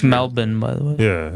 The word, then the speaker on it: Melbourne: It's Melbourne, by the way. Yeah, it's Melbourne if we're going to live there. That's pronounced.